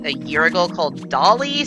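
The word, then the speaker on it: DALL-E: like a year ago Dolly spelled like WALL-E the Pixar movie but with a d instead of a w that did that I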